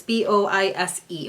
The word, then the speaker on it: Bois: Yeah, it's B-O-I-S-E, which I think is pronounced Bois.